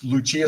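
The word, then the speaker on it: Lucia: of Luchia okay which Luchia sounds like lights the Opera that is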